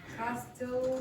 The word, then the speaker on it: castle: Castle. No, there's no T pronunciation.